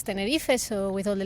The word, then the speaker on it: Tenerife: You were in Tenerife. Yes, I was, and you- thank you for pronouncing that properly.